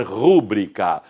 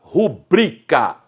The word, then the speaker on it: rubrica: Há acento nessa palavra? Não. Então não é proparoxítona, não se deve pronunciar rúbrica. O que é que sobrou mais uma vez? A sílaba tônica é a penúltima sílaba. Então, a assinatura abreviada que qualquer pessoa possa colocar, professor principalmente, ele apõe sua rubrica. Esta é a forma adequada de se pronunciar.